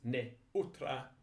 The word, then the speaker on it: neutra: Notice neutra, the E and the U are pronounced in separate syllables. It's not like the English word neuter.